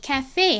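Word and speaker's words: café: 이는 끝에 오면 소리가 보통 안 난다고 했는데 왜 이 cafe 할 때 이는 발음이 나나요? 라고 물어봐 주셨는데요. 사실 이 단어는 원래 프랑스어 단어인데 이거를 영어에서 빌려와서 쓰고 있는 거죠. 이렇게 외국에서 빌려온 단어의 경우에는 끝에 있는 이가 소리가 나는 경우도 있다라는 점 참고로 알아두세요.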